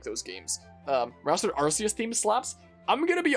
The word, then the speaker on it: Arceus: know what the reason rcs theme sounds like but i know it's blasphemous to say but i don't think i liked arceus's theme in the or arceus as it's technically pronounced theme in the first